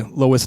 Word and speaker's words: Lois: say it right yeah it's Lois not Lewis right I'm pretty I'm pretty sure it's Lois right yeah you're like